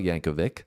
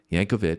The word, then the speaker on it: Yankovic: description box so let's check out weird out Yankovic it's Yankovic apparently we had uh some comments saying that normally would be Yankovich because I said that in the last video